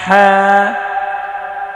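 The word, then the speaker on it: ح: qaf qaf qaf হ্যাঁ ha হ্যাঁ হ্যাঁ হ্যাঁ ha ha ha গলা চাপিয়ে হলকের মধ্যখান হইতে হ্যাঁ উচ্চারণ করতে হবে।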